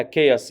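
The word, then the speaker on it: chaos: هتقوللي يا مستر كيس كيوس معناها فوضى وممكن نقولها كياس يا حبايبي الاتنين صح سواء نطقتها كيوس او كياس الاثنين صح وين ذا الارم رانج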